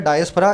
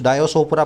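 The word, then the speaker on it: diaspora: फिर अगला वर्ड है डायस्पोरा। इसको कुछ लोग डिस्पोरा बोलते हैं, कुछ डायोसोपोरा, पता नहीं क्या क्या बोलते हैं, खुद भी बोल के देखो। सही प्रोनाउंसिएशन है इसका डायस्पोरा।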